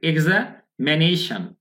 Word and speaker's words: examination: এরপর কি exam, exam, এরপর কি এক্সামিনেশন, এক্সামিনেশন, তাহলে এক্সামিন, এক্সামানি, এক্সাম, এক্সামিনেশন। শন না, কিন্তু এই শনটা আবার ব্রিটিশ উচ্চারণ হয়, কিন্তু খেয়াল করেছেন তো, আমেরিকায় বলে শান, ব্রিটিশরা বলে শন, তাহলে এক্সামিনেশন, ঠিক আছে?